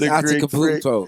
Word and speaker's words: Antetokounmpo: Yeah, it's Antetokounmpo.